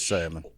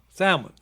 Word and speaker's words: salmon: salmon salmon salmon that's lower alaska this word is silent so it is salmon that the l is silence yeah no l salmon knife yeah and ganette yep it's salmon p